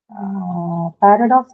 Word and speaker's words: paradox: Paradox is a noun, that's right. Where are you going to mark the stress then? It's a noun. Where do you mark it if it's a noun? First syllable, right? You have it on the first syllable, and then next you have priority.